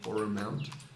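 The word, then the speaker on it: Aurum Mount: this mountain is called Aura Mount. Can you spell that? A-U-R Oh, that's not how I spelled that at all. A-U-R-U-M U-N O-U-N-T. It's like a mountain with an aura.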